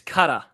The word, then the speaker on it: Cutter: It's Cutter. That's how you say it. Cutter Crawford. Yeah, I'm calling it Cutter.